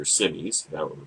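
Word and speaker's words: Simes: and doesn't hide it said SS or simis he pronounces it I think that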